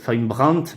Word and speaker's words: Brandt: ses amis, Von Braun, Brandt, pardon, parce qu'en allemand on prononce toutes les lettres, de rationaliser l'État en